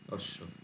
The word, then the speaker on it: অশ্ব: রকম ভাবেই লেখা হয় বাংলায় স এ ব লেখা হয়েছে কিন্তু ব এর উচ্চারণ হয় না এরপরে ক এ খ